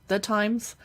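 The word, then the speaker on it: Thymes: fan of Times Candles the times it's spelled t-h-y-m-e-s but they're really expensive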